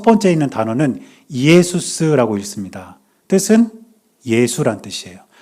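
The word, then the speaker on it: Ἰησοῦς: 그런데 저 단어가 어떤 뜻이냐면 첫 번째 있는 단어는 예수스라고 읽습니다. 뜻은 예수란 뜻이에요. 두 번째 단어는 크리스토스라고 읽어요.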